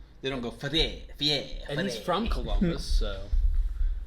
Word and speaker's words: Fieri: You always say Fieri too. It's pronounced Fieri. I'm not saying that. I'm not French. I always said It's not French. It's I always Italian. Said Ferrari. Whatever it is. I always said Ferrari.